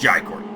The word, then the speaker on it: Jai Courtney: It's Jai Courtney.